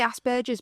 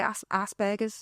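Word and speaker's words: Asperger's: How do you say it? Ask I say asberers, but people say assber. Yeah. Which is like ass and burgers. I just feel like they all say it wrong.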